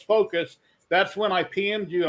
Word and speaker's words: FOKOOS: i asked her and she said no it's pronounced focus so okay the reason